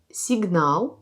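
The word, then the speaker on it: сигнал: Par exemple, dans le mot signal, l'accent tombe sur A. C'est comme il y a de A à côté. Signal. Voyez, je prononce a plus long. ou dans le mot tabac.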